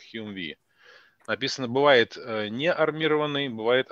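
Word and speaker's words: Humvee: Значит, правильная аббревиатура HMMWV, произносится как HUMVI.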